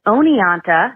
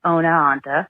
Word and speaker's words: Oneonta: It is Oneonta, not, I think you said Oneonta, and it's Rensselaer, not Rensselaer. But also, I graduated from University at Albany a year before Suzanne went missing.